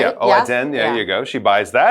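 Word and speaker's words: 蚵仔煎: She's got her, how do you say, oajin? Oh, oazen, right? Yeah, oazen, there you go.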